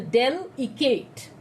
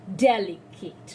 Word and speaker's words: delicate: vowel see here delicate i didn't tell del ekt i said delicate right so d and